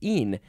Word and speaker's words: e'en: want to say even, you can just say een.